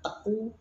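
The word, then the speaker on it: Teuku: Kenapa teku itu bacanya teku bukan tengku dan lain sebagainya.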